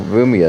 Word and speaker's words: Rumia: I guess just the first syllables of Reimu, Remilia, and well, Rumia is different. It's Ru, not Rei.